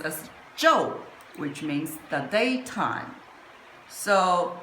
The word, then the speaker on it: 昼: And in modern character is this and pronounced as Joe which means the daytime.